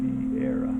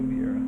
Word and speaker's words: Vieira: All right, we got I think his name is Tiago Vera. Or Vieira. Let me see how you pronounce that name. What the heck? Let's see if it says. Oh yeah, Tiago Vieira. Okay, Tiago Vieira. Pretty simple.